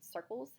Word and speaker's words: circles: So if you were to spell the word circles, C-I-R-C-L-E-S, you'd spell it S-I-R-K-L-E-S, because the first C goes S and the second C goes K.